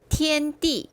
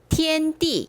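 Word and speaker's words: 天帝: 자, 참부 발음 한번 해 볼까요? 원인 푸 상제 쌍띠 천재 텐띠. 요게 띠니까 여기에도 발음 같아지겠죠? 한 번만 더. 쌍띠. 티엔띠. 요것도 티엔이니까 여기서도 티엔 이게 되겠죠?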